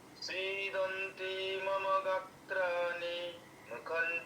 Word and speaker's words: सीदन्ते: सीदन्ते मम गात्राणि मुखं च परिशुष्यति वेपथुश्च शरीरे रोमहर्षं च जायते।